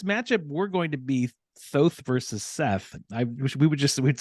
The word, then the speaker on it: Thoth: Once you're able to give us the story of Thoth, if I'm saying that correct, right. I believe I am. That is the correct pronunciation.